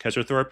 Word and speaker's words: Kezarthorpe: So that's the guy in the main Discord that everyone knows, who's the Dark Paladin main, whose name is pronounced Kezarthorpe, which he had to explain to me, is a big advocate for Dark Paladin.